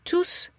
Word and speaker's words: tous: So when tous replaces a group of person, that's actually what a pronoun does, then you will pronounce the S in the masculine.